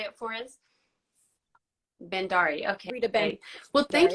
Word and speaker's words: Bhandari: I'm not sure if I pronounced your name correctly. Could you say it for us? Bhandari.